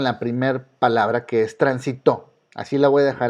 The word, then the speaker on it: transitó: Ya que tienen esta identificación, vamos a suponer que escucharon la palabra transitó. Lleva acento, pero ¿por qué lleva? Bueno, transitó. Se lo pongo tan sin saber por qué lleva acento. Entonces aquí cae la fuerza y es una palabra aguda, está en la primera y en la última.